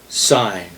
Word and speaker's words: Syne: And the song, by the way, if you haven't guessed by now, it's called Auld Syne. It's spelled Auldlang, Syne. S-Y-N-E. It's like a sign table.